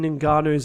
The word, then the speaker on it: Ngannou: I keep saying Ngannou. I hope that's right. You're saying it right.